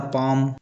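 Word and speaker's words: palm: उसी प्रकार पाम अमोंड इन सभी वर्डों में एल के बाद एम आ रहा है और एल साइलेंट हो जा रहा है।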